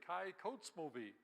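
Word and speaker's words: Kykotsmovi: Well, as I learned, the names of these towns are pretty much just the way they look. So let's all say Kai Kotzmovie.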